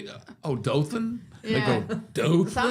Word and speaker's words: Dothan: The first time we went to that uh town in South Alabama called Doon." I said do. Yeah. Do O T A Oh, Dothan.